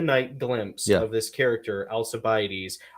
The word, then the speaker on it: Alcibiades: glimpse of this character alcibiades i always i always want to pronounce it alkabides because like there's a thing with the seas in latinized greek where um when the greek got latinized and steve may be able